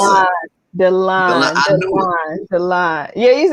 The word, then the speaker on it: Dalon: How do you pronounce that? Dalon.